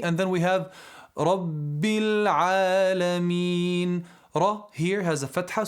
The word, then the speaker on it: العالمين: No, it's not a, it's a ayn, not a hamza. No, it's a ayn fatha alif. A. We said hamza ha, ayn ha. So ayn and ha, they're both pronounced from the middle section of the throat.